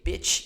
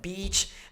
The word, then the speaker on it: beach: If you say piss instead of peace, if you say bitch instead of beach, a lot of things can happen during conversation.